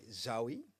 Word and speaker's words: Zaoui: Um, yeah, my name is Zawi. So, it's pronounced not Zoey, but Zoe.